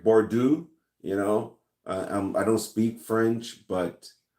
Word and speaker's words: Bordeaux: Bordeaux. I don't speak French, but I'm assuming I don't pronounce that X.